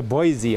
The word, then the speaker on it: Boise: uh she said it was okay it's a boise oh okay i pronounce it right boise and now boise is home where he is